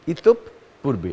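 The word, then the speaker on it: ইতঃপূর্বে: অর্থাৎ আমরা যদি উচ্চারণ করি ইতপ পূর্বে, এটা হবে উচ্চারণ।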